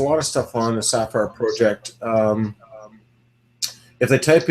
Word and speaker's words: Safire: of stuff on the sapphire project um if they type in the sapphire project but it's spelled s a f i e there is there's lots